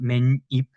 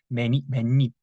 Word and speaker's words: 맨입: You can say 맨입, but we write 맨입, but we pronounce 맨입. So as you can see, we don't write two 니은, right? But we just pronounce as if there are two 니은 here.